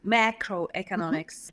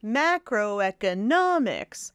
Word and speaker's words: macroeconomics: macro macro economics and that's a complicated word we got extra syllable stress macroeconomics macroeconomics you've got primary stress two primary stresses and one secondary stress so macro macro and then e economics so me and N those are two primary stresses and then